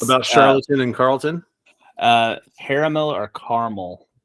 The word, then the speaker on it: Charlton: yeah something 70 I can't remember I looked charlatan comic it looks like Charlton Charlton Charlton comic yeah charl Charlton yeah the